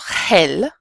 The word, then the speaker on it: gel: So, for example, if we have GE or GI, the word is going to be pronounced with a soft h sound. So, for example, gel, which is gel, or biolo, change this to an accent, biología.